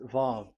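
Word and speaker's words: ו: Vav. So it's V as in Vogue. So it's really V. How to read Vogue? So the word, the shape Vav is really pronounced V, like Vogue.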